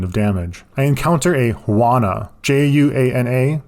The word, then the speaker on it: Juana: damage I encounter a Juana j-u-a-n-a the J is silent we presume it is